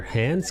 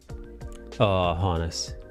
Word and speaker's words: Hannes: Later, Hans comes with his vanguard. Oh, Hannes. Hannes? Is that how you say it? I really don't know. I don't know all the names like that. It's Hannes, you know, the old.